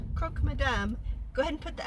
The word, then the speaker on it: croque madame: I've had the ingredients in our fridge for croque madames. Is it croques madame? It doesn't matter because the S is silent. So when I say croque madame, go ahead and put